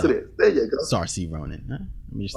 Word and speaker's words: Saoirse: Saoirse Ronan. Yes, it is. There you go. Saoirse Ronan.